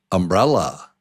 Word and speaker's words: umbrella: Umbrella. Umbrella. How many syllables and what's the strong syllable? Umbrella. Umbrella. Yes. Umbrella. Umbrella. Umbrella. Umbrella. Number 2 is the strong syllable. Brell.